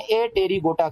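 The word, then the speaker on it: Apterygota: wings नहीं होते उन्हें ए तेरी गोटा कहा जाता है इसमें पी क्या है बेटा साइलेंट है तो मैंने इसकी मिसाल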